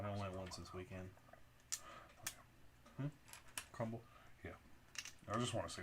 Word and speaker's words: Crumbl: Like I kind of Is it remember, but don't Crumbles? remember. No, it's CRUMBLE. But it's spelled. I mean, BL. yeah, BL. Crumble.